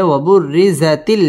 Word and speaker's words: وبرزت: করিয়া উচ্চারণ করতে হবে ওয়াবুররি র বারিক হবে ওয়াবুররিজাতিল জাহিম মধ্যে তবাই একালিফ